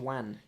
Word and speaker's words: Wan: Wan.